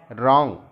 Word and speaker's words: wrong: Knife में के silent है, डब्ल्यू से रॉन्ग, लेकिन डब्ल्यू इसमें साइलेंट लेटर है।